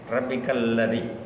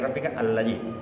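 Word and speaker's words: ربك الذي: Alladzi Tetapi kalau kita disambung maka tidak lagi pakai alif. Rabbikal ladzi. Dibacanya begitu saja, tidak lagi rabbika alladzi. Kalau dipotong alladzi, tapi kalau disambung rabbikal ladzi.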